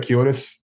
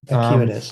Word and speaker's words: Acuitas: Am I pronouncing that right? I call it Acuitas. Acuitas, okay.